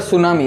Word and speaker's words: tsunami: दूसरा लेसन है डी सुनामी इसको टी यहां पर क्या है साइलेंट है तीन ही पढ़ेंगे इसको हम लोग क्या पढ़ेंगे सुनामी ठीक है इसका जो